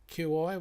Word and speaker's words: Qi: Auckland, specialises in small, how do you pronounce this? QI, what's it is? We? Is that, G. Yeah, sorry. I keep forgetting. Chi.